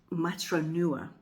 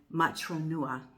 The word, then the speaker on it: Matronua: Now, I'm probably not pronouncing it right because I'm American and I don't speak Italian, but I think it might be Matronua is the correct pronunciation.